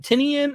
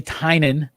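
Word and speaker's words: Tynion: looking at you're like wait is it pronounced tynan or is it tinian it's like just so you know it's tynan it's tynan i mean he says it on his twitter like there should be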